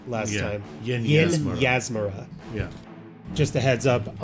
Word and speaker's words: Yinyasmera: The lady that runs Crook's Nook, her name is pronounced Yin Yasmira. I pronounced it Yanismira last time. Yin Yasmira.